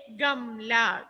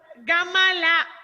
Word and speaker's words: गमला: Malayalam we are using ma, but Hindi when you say pronunciation m. Gamla. Don't. Some are telling. Last class I heard. Some will pronounce gamala, not ma.